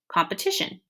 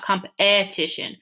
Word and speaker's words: competition: And if you say the word competition, you hear the in the beginning, but you don't quite hear that E sound or sound. It's not competition, it's competition. So that is considered a